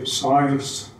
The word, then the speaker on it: Circe: Then Circe, Americans say Siles, and Fincraft were built in Hanko.